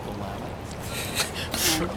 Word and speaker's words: Willamette: It's called Willamette. It's pronounced Willamette.